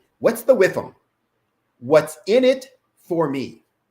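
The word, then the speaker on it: WIIFM: And there's an acronym, WIFM, W-I-I-F-M, W-I-I-F-M, and I always pronounce it WIFM. What's the WIFM?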